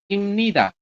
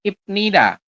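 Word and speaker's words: 입니다: Ini dibacanya apa? Imnida. Bukan ibnida. Masih ingat ada biap di akhir ketemu dengan nian, maka biap dibacanya adalah M. Jadi kita bacanya imnida.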